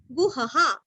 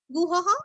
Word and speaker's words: गुहः: ग कर्ता विकर्ता गहनो गुहः गुरस्व और विसर्ग के आगे ह अथवा हा गुहः अथवा गुहः उद्भव क्षोभणो देव श्रीगर्भ